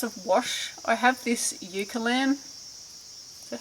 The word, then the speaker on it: Eucalan: I have this Eucalan. Is that how you say it? Yeah. Eucalan wash.